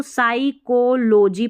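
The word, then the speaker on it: psychology: अब इसको पी साइकोलॉजी नहीं पढ़ना है। इसको साइकोलॉजी पढ़ना है। पी साइलेंट रहता है।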